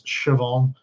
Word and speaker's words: Siobhan: That's Siobhan.